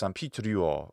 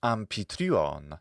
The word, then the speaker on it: Amphitryon: Now, how's that in Latin? That's Amphitryo, or Pitruo, depending on if you want to use a fully older Latin pronunciation or the more Hellenized one that came on later. And in Attic pronunciation, that's Amphitryon.